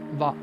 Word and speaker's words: は: The particle ha can be pronounced as va. Like when you're using it as a particle, you pronounce it as va.